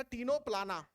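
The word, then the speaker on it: Ctenoplana: हैं बेटा प्लूरोनिक दिया टीनो पलाना सी साइलेंट है टीनो प्लाना और बगल में एक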